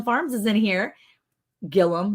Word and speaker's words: Gilliam: Look, Johnny from Gilliam Farms is in here. Gilliam, not Gilliam, even though it's spelled that way. They just say it wrong in Oklahoma.